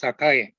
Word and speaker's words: Sakae: Of course, I love sake, but the correct pronunciation is Sakae.